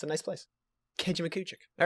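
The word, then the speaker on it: Kejimkujik: You might be from Nova Scotia if you can pronounce. Here it goes. John, I love and hate you at the same time, bro. Kejimujik?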